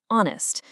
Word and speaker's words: honest: The H is silent. The first sound is O as in honest.